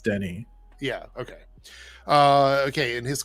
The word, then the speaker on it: Denis: Please correct me in the chat because I know his first name's pronounced Denny.